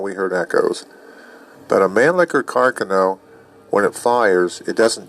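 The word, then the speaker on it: Mannlicher-Carcano: I held a model, exact model as the manlicker caro. And that's how you pronounce it, by the way. Everybody pronounces it wrong. It's not man liquor caro carcano. It's manl liquor caro.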